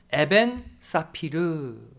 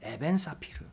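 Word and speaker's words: אבן ספיר: 보석으로 비유하고 있습니다 일단 보석 은 히브리어로 에벤 사피르 라고 발음합니다 에벤 사피르 우리가 아는 보석 가운데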